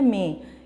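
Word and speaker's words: مینہ: بارش کو، اس کو کچھ بچے جو ہیں وہ مینا پڑھ لیتے ہیں، تو اس کو ذرا تلفظ پہ بھی توجہ دیجیے گا. یہ لفظ ہے میں، اس میں نون جو ہے وہ غنہ ہے.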